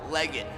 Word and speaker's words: Legit: We call this workout leg it. Some people pronounce it legit. Either way, both are accurate.